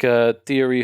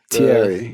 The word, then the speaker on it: Thierry: Theory. Like Thierry Henry. Thierry. The Arsenal. Like THIE.